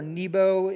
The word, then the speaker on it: Nebo: Interesting that the Babylonian god of wisdom, Nabu or Nebo, however you want to pronounce it, would have been the god of wisdom.